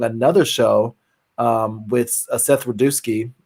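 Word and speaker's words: Rudetsky: show um with seth rodeosky how do you say his name seth rodeowski yes the second time um yeah you know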